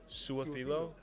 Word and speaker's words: Su'a-Filo: If you really just read it, how it's spelled, Su'a-Filo, makes sense, right?